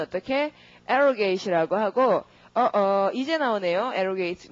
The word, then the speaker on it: arrogate: 자, 그 다음에 사칭 횡령하다 발음 arrogate. 그 다음 명예를 손상시킨다 이러면은 깎아 내리니까 접두어가 우선 D를 붙일 테고 모두 다 그 강세가 접두어에 있잖아요. 지금 abrogate, arrogate 그러니까 어떻게 derogate 이렇게 되는 거죠.